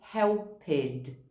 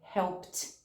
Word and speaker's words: helped: ler esses verbos aqui, a gente acaba falando helped. A gente lê esse ed no final. Ou a gente fala called, worked, cleaned. Quando na verdade a pronúncia é helped, called, worked, cleaned.